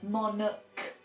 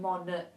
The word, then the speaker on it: monarch: with the royal family monarch notice it's a monarch not monach watch out for that one so a monarch noun